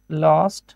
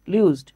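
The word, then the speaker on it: lose: ভিথ্রি এই যে লুজ লস্ট লস্ট আর এই যে এটা লুজ দেখতে পাচ্ছেন লুজ লুজড লুজড হ্যাঁ আচ্ছা অনেকে এটারে লস উচ্চারণ করে লস না কিন্তু হ্যাঁ লুজ লুজ লুজ এইতো মাশাল্লাহ সাব্বাস পারবেন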